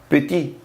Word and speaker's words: petit: yo tengo acá pequeño masculino se pronuncia piti y en femenino pettitte a esta